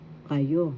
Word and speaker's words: kayo: Kayo. Kayo. That means you all, plural, more than once. First syllable ka, second syllable you. Kayo. Second syllable has the accent.